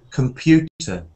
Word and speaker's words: computer: com at the beginning but if you say Comm at the beginning you you can make a mistake if you say Comm at the beginning because you can stress the first syllable but the syllable to stress is the second syllable so I say come